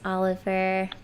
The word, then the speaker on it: Oliver: That's Oliver. I always ruin his name. It's supposed to be pronounced in a more French way, and it's awesome.